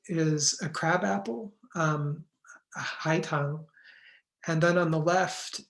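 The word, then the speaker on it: 海棠: um a kind of Magnolia um which is pronounced Ulan in Chinese on the right is a crab apple um High Tong and then on the left is a Pian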